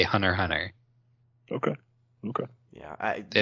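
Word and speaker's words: Hunter × Hunter: semantic question you don't you don't pronounce the x in the title i've always said hunter x on her i've said both hunter x hunter and hunter hunter i think when they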